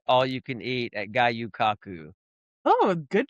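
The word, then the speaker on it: Gyu-Kaku: the 4th of July, and then the 4th of July, we went, and had all you can eat at Gayu Kaku, Oh, good pronunciation.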